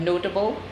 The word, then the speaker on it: notable: Notable, we have notable. Horrible or horrible. So the words are stressed on the next to the last syllable.